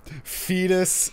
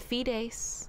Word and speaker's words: Fides: Fetus, wow, I just realized his name sounds like Fetus. Yep, I've been laughing at that too. Fetus, Indir, and We could and- pronounce it Fides.